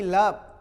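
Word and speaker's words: love: मैं सिंगल ई की बात कर रहा हूं, शब्द के लास्ट में आए तो प्रायः ए का उच्चारण ए या ई की तरह नहीं करना, उसको छोड़ के बोलना। एलओवी लव, लोभ नहीं, लाभ नहीं, लव व लव, भाव भी नहीं, लव, आई लव यू।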